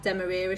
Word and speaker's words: demerara: Put it in sugar, demerara sugar.